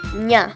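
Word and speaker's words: ञ: the next one is nya which is pronounced like the ni in onion and you might recognize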